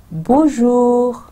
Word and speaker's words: Bonjour: اب آپ دیکھیں کہ یہ نون غنہ, میں این کو پورا نہیں پروناؤنس کرتی, وہ نیزل رہتا ہے. بون. اور پھر سیکنڈ پارٹ یہ ہمارا آ جاتا ہے بون, اور سیکنڈ پارٹ جور. بون جور.